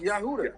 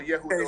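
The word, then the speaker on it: יהודה: His name is pronounced Yahuda. You have to pronounce his name. Right. Yeah. Or Yehuda, or Yahuda, yeah, for sure.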